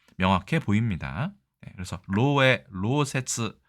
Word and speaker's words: 漏洩: 일본에서는 로에라고 해서 다소 이 글자의 발음이 신기하긴 한데 원래는 로세츠라고 해야 되지만 이 글자를 관용음이라고 해서 그렇죠? 이걸 끌 예로 보는 것이죠. 셀 예로 보는 것 같습니다.